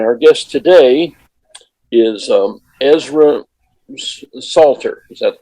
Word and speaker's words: Ezra Salter: a conversation and our guest today is um ezra salter is that the correct pronunciation yes oh good and they are here